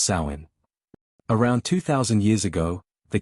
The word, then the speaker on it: Samhain: The origins of Halloween can be traced to the ancient Celtic festival of Sam Hane, pronounced sain.